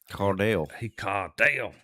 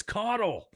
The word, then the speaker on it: Caudle: Caudale. But the coach thought he said GD, and Bob ran forever. He made him run, and Bob was like, I said Caudale. And I'm like, it's Caudle.